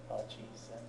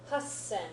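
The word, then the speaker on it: 八千: Jurokuman, okay, and then, okay, which instead of pronouncing it hachisen, does anybody know how we pronounce it? Hassen, yeah.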